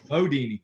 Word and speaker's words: Bundini: You know, if you really want to look cool, like you know the guy, it's Bodini is how you say it.